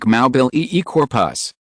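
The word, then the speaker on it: Mobilicorpus: The spell is, Mabulacorpus, floating zombie, pronounced like Maubil corpus.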